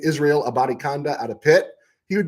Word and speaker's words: Abanikanda: Abanikanda, I learned how to say his name, Israel Abanikanda out of Pitt.